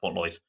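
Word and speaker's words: Portlaoise: So, there's an Irish basketball game between Limerick and Portalois. Okay. Or Port Lois. I think that's pronounced Port Lois.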